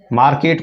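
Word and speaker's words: market: मार्केट को आर silent करके बोलते हैं तो मार्केट बोल देते हैं, मार्केट.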